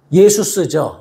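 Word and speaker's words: Ἰησοῦς: 그래서 예수라는 이름이 헬라어로 예수스죠. 예수스라고 하는데 그러니까 한글 성경이 참 좋은 거예요. 원어 발음에 제일 가까운 발음을 한국 사람들이 하는 거예요.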